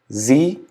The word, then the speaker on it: sie: It has the sound of Z at the beginning.